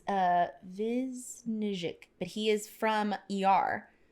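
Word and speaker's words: Višnjić: It's Vizhnich, but he is from ER.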